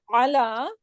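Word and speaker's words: على: So ala with ain mean on, and ila Towards. hamza. Okay.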